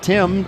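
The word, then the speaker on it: Tymn: three consecutive vowels and his last name spell tim t-y-m-n as in him like you sing in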